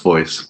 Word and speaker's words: Voss: Voss? It's pronounced voice, but I'm here.